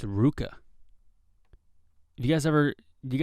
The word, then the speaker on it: RVCA: that uh rvca the clothing line is not pronounced rvca it's pronounced ruka you guys ever do you guys know that